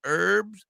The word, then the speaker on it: herb: a free joint tailored herbs and concentrates well you got to get rid of the H Garrett if you don't like the H the H is silent it's silent it's herb